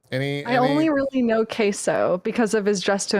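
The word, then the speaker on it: CaseOh: So we got Queso, I think is the Queso, pronunciation. that's correct. Oh, come for me, Queso. Like cheese.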